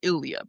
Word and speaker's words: Ilya: It's It's Ilya.